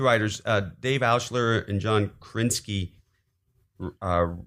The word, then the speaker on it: Krasinski: Dave Ausher and John Krasinski uh wrote John Krasinski, not Krasinski. No, Krasinski. That poor guy. So, he's just a syllable away.